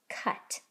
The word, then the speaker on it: cut: Now, of course, without that magic E, ut, cut.